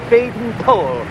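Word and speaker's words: Baden-Powell: And here is the founder, Robert Stevenson Smythe Badon Powell, though he preferred to pronounce it Badon Powell, but I, having a weakness for full-blooded vowels, please forgive me, BP.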